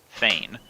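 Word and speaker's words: feign: who feain life Fain life mhm can you spell that word Fain Fain Fain f e i g n Fain as in in other words fake okay yeah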